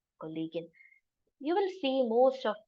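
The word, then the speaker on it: Kollegin: Kagan Natalia kovalski collean in English we know we say it is colleague but in German it is collean you will see most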